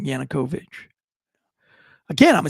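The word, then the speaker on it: Yanukovych: guy his predecessor y Yankovich whatever his name was I don't know how to say it what is it to always screw up his name yanukovich sorry I want to get it right if I'm not looking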